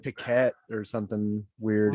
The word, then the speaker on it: Piquet: Nelson Piquet for those PK who didn't catch the story. He's a Brazilian F1 driver. Not spelled PK, it's spelled the French way, which is stupid. Yeah, I was thinking it was like Piquet or something weird like that.